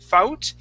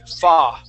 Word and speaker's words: fought: word is fought okay now the u g h instead of sounding like fou Fout we say that OU G replace that with an a sound okay so instead of saying uh f out we say fa f f f yeah